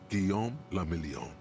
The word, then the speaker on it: Guillaume la Million: Guillaume la Million. If it doesn't rhyme, you're not pronouncing it right.